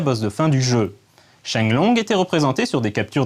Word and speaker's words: Sheng Long: pour espérer me battre mais en chinois les kanji de cho oyu le dragon ascendant se prononcent shine longue dans la première version